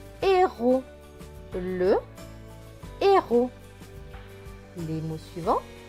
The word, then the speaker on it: héros: H avec E accent aigu. E accent aigu, c'est E. Le H ne se prononce pas, donc c'est juste E. R et O. Ro. Et le S à la fin est écrit en bleu, donc il ne se prononce pas. Donc ce mot va se lire et ro.